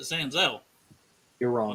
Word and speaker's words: Senzel: Sanzel for Santori. Stop it. That is how it's pronounced. They pronounce it Sanzel You're on the wrong.